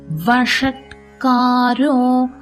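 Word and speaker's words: वषट्कारो: பின்னாடி வச்சு உச்சரிக்கணும் விஷ்ணுர் வஷத் காரோ ஷ ரெட்ரோபிளக்ஸ் ஷ நாக்க மடிச்சு உச்சரிக்கணும்.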